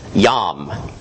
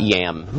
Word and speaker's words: Yam: One of the most prominent ones is Yam. That's how you'd pronounce it, not yam, like the vegetable, or the root.